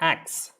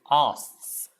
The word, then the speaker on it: asks: meats okay meats meats asks it is not acts it's asks asks asks s k s